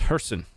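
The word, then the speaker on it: Kherson: Uh the K and Ukrainian city names is silent. Kkefe is Harkke and Kersonen is Herson.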